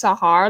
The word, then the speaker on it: Sahar: just that's not sure my name is Sahar like the desert but without the final a and you pronounce the age I was born in